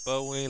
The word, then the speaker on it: Bowie: I pronounce it Bowie like the singer.